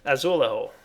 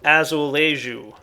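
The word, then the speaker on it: azulejo: show you guys is azul or azulu as I'm told it's pronounced don't look at me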